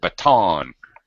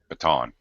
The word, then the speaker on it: baton: B yep Bon it's it's a French word those crazy French people like to have second second syllable stress so baton baton yep they pass a